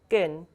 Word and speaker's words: 끈: And the next letter in the examples, 끈, although it has ni은 and hiët at the end, it's also pronounced as ni은 only. So it's pronounced as 끈.